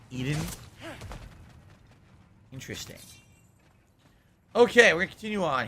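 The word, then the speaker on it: Iðunn: of eating Edie en it's i-d-u-n-n and it's pronounced the same way Eden interesting okay we'll continue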